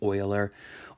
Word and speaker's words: Euler: The way you pronounce this name here is Euler. Euler is one of the most prominent mathematicians ever. And so that's how you say his last name, Euler.